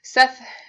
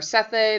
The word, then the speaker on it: Sethe: Seth, or Sethe, there's different ways you can pronounce her name.